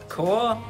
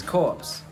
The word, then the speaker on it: corps: What I learned in AFJROTC is core is not pronounced as corpse because you're not dead.